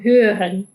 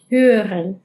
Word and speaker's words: hören: Hören, hören. Y esta r voy a resaltar algo particular de algunos verbos que puede que escuches como hören, hören, hören. ¿Ves que la r casi suena como mucho más sutil?